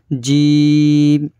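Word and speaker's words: جيم: তারপরে এটা জিভের মধ্যখান উপরের তালু, এই অক্ষরটি উচ্চারণ হয়। এই অক্ষরটি হচ্ছে জিম।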